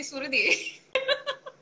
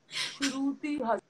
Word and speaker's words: Shruti: Okay, they say Suruthi. Suruthi, Sharuthi, Shruti.